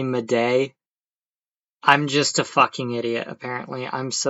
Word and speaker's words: Madej: video to find out I've been pronouncing her name wrong this whole damn time. So, you're just going to have to deal with it. It's pronounced Carrie Mday.